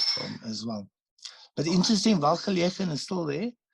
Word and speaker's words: Welgelegen: And, you know, when I first came to South Africa, I didn't know how to say it. So I used to call it Welgelegen. Okay. Yeah, but now I know it's Welgelegen.